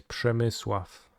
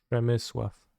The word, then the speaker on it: Przemysław: It's Przemysław. Repeat after me. Przemysław.